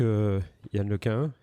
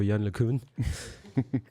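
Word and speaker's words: Yann LeCun: présenter y d'accord euh donc Yan Lequin ou de l'autre côté de l'Atlantique c'est plutôt Yan lekun et puis ça s'écrit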